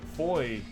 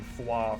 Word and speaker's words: Foie: You know the fire spells, I called them foie for so long, like foie gras or something. I thought it was like overtly French, but apparently it's pronounced foy.